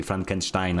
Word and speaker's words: Frankenstein: Yeah, I think I'm saying it correctly. Like, you know, it's German and German is similar to Polish, so when I say Frankenstein, I think it's more source accurate, lore accurate.